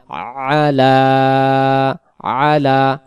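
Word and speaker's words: عَلَىٰ: তারপরে আইন জবর আ, লাম খারা জবর লা, আলা আলা। এখানে ইয়া অক্ষরে কিছু নেই, উচ্চারণ হবে না, এভাবেই থাকবে আলা।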